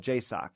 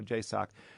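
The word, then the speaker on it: JSOC: You know, you were talking about uh the Joint Special Operations Command, which is called J- Sock. You know, people people say it like, you know, Jacock.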